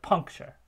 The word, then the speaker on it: puncture: light syllable and therefore we get penultimate stress on the on the punk rather than on the chir so we have puncture and that stress would